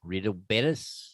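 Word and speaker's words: Real Betis: again the team yeah I believe the it's pronounced real bis real betus yes Rio r e a l real betus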